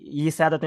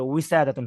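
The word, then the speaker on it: وسادة: তারপরেও মানে কি যেন ইসাদাতুন যেন না হয়, হ্যাঁ ইসাদাতুন, আবার এরকম যেন না হয়, আবার ইসাদাতুন এরকম যেন না হয়, হ্যাঁ ওটা উইসাদাতুন হবে।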